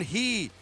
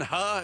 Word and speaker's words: He: Jackson He. Oh, remember him? Yes. I guess it was Jackson Ha is how you pronounced it.